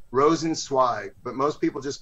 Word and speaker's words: Rosensweig: up how do you say your last name rosensweig but most people just call me dan r